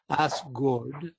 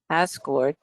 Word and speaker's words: Asgård: Guard is pronounced gourd, more like a gourd, you know. And Heim is not Heim, it's Heim. So it's in this case Asgård and Nifla Heim, right?